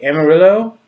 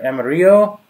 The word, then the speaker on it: Amarillo: think's number one and start with the Amarillo or Emma Rio I guess it depends on who you are where you live now you say that but most Americans say Amarillo and low really low but money okay that's